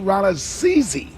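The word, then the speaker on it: Rannazzisi: Thursday, September 25th, Joe will welcome Steve Ranazizi. I got that right cuz he spelled it out phonetically for me.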